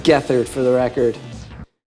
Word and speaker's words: Gethard: Every comment on this is just gonna be Gethard jokes, but it's pronounced Gethard for the record.